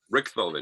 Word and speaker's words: Richthofen: Richthofen is how you say it.